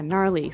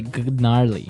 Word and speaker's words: gnarly: Yeah, gnarly. So an interesting word, it's spelled Gnarley. Okay, so, but you don't say gnarly. No, You just- say gnarly.